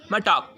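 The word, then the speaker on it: talk: பண்ணல amend amend சரிங்களா L silent டாக் மிடில்ல பாருங்க டாக் டால்க்கு அப்படின்னு சொல்லல டாக் ஃபர்ஸ்ட் ஒன் பாருங்க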